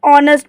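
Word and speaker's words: honest: मतलब होता है ईमानदार ये आपको देखने में पढ़ने में लगेगा नेस्ट है पर इसको नेस्ट नहीं पढ़ना है इसे ऑनेस्ट पढ़ना है जो आपका एच है वो साइलेंट रहेगा तो एच ओ एन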